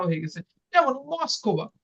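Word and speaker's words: Москва: যেমন মস্কোবা, তো এটা কি হবে মাস্কাবা। তো দেখেন লাস্টে স্ট্রেস পড়ছে কে ভে আর কে ভা আর এর উপরে, সো এটা কি হয়ে গেছে মাস্কাবা, মাস্কাবা।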